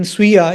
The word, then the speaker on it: स्वीय: But in Sviya, the next vowel is E, the dirgha E, the sound E. So that is why there we have Sviya.